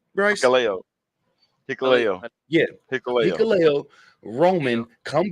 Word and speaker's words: Hikuleo: How do you pronounce his name, Bryce? Hikuleo.